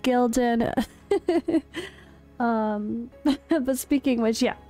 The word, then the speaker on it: Gyldan: of a character Spotlight on Gildan all right Gilden jilden depending on the dialect I looked up a bunch of pronunciations they're all different so we'll go with Gildan um but speak English